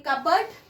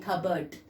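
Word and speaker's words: cupboard: दिमाग में रखें कबर्ड, लेकिन मुंह से बोलें खबर्ड।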